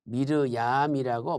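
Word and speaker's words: מרים: 자, 미리암은 히브리어로 미르얌이라고 발음하죠.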